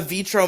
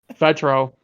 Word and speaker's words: Vetro: You want to have the Vitro Matt cave and like have Oh it be yeah, the yeah. Arrow bunker. I'd buy it. Am I pronouncing that? Is it Vitro? Vetro. Vetro.